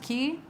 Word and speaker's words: Quay: I think it's pronounced Key, Quay.